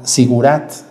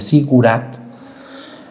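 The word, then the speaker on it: zigurat: Dice, corresponde al Sigurat. ¿Se acuerdan esas edificaciones asirias? Esas edificaciones que existían, que fueron llamadas Sigurat, con Z, así se escribe, Sigurat.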